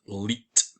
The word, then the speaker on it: 1337: And in 1337, this 1337 here is pronounced leet.